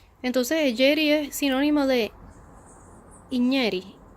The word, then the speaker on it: Igneri: Y en francés la G y la N suena muy parecido a la ñ en la lengua española.